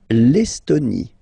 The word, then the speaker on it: L'Estonie: L'Estonie, final not pronounced.